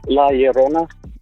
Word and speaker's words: La Llorona: It's La Llorona.